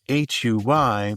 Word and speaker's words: Huy: That's where organizations like Seattle-based Huy come in. Spelled H-U-Y but pronounced H-O-Y-T, the organization provides economic, rehabilitative, educational, and religious support for Indigenous prisoners in Washington State and beyond.